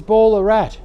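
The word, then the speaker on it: Ballarat: across to Bendigo and then across to Ballerat. Yeah. And then Berat. Yeah. That's it's correct the correct pronunciation is Berat.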